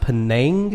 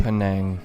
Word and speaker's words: Penang: Okay, it's pronounced Penang. Penang. Okay. Penang, Malaysia. And we're going to get corrected by about 500 people. It's fun saying it both ways.